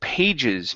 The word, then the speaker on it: pages: Next up, let's go to the word pages. Make sure to pronounce sorry, it's the J sound that we were missing.